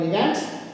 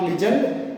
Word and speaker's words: ligand: The central metal atom or ion surrounded by the electron donor atoms, they are called ligands. ಅಂದರೆ ಎಲೆಕ್ಟ್ರಾನ್ಗಳನ್ನು ಕೊಡುವಂತಹವುಗಳಿಗೆ ನಾವೇನಂತ ಕರೀತೇವೆ? ligands. We pronounce ligand, not legend.